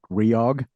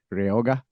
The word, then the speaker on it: Reog: our EOG you can either call it REO G sometimes you spell it out like that sometimes we say riyog uh it doesn't matter how yeah real you know it doesn't matter how you pronounce it because uh for Spanish speakers sometimes they say it ryoga so so it doesn't matter really as long as spell spelled out REO G and and you remember